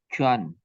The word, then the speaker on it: Quan: Chuan. Yes, family name. Chuan. Which one your family name? Q. Yes, Q-U-A-N. U-A-N. Yes. Pronoun as Chuan.